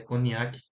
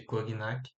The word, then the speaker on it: Cognac: Clube preto e conc no nome certo se pronuncia coniac ao invés de cognac e aqui necessariamente ele